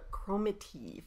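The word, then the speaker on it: Cromarty: were skeptics one of the skeptics was the chromakey family that's how you say it a whole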